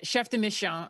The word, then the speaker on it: chef de mission: is chef de mission but no it's uh chef de mission and um you know it's when i got